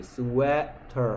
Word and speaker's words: sweater: EA가 에 소리 나죠. W가 우 소리, S가 스 소리. 스웨터 하면 되겠죠.